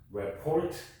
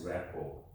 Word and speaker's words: rapport: So we don't want to just pronounce report, but that's rapport.